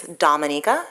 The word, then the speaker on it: Dominica: My country's name is Dominica. We're not Dominican Republic, so it's pronounced differently.